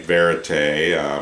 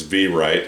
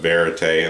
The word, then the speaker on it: Verite: I'm pronouncing that right, Verite. I don't think it's V-right like it's spelled, so anyway, I'm going to go with Verite, and this is the open back version of that headphone.